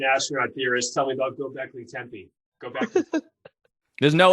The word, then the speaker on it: Göbekli: You're going to nail that one day. Fuck it up again. Göbekli. It's Göbekli Tepe. Yeah, Göbekli Tepe.